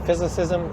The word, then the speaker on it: Physicism: My YouTube channel is just Physicism. It's spelled Physiscism. Basically the word physicist, but instead of a T at the end, there's an M.